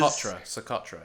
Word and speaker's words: Socotra: this was like attitude is I think it's socotra I think that's how you pronounce it or so like a jewelry brand so it is socotra yes a culture it is the on the